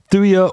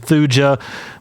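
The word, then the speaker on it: Thuja: number 13 we have thya orientalis yes I'm trying to say it correctly thya instead of thuga but you know it's still very weird to me a thuya orientalis van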